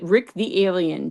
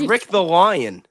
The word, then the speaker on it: Rick Thelian: It's Rick the Lion.